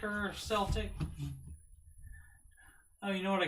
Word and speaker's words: Celtic: you know if it's celtic or celtic oh you know what i could do i could uh google it is it kill tick or sell tank there we go whoops so